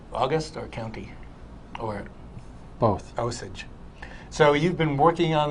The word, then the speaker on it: Osage: opening of august osage county is that the pronunciation that is i'm glad i got that right august or county or both osage so you've been working on this play with